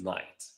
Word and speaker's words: knight: The rule in English is if a word starts with a KN, the K is silent.